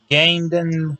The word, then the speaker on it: Camden: for the world title, but it was in Camden, New Jersey. I think I'm saying it right. or is it? No, that's a C. Excuse me. It's Camden.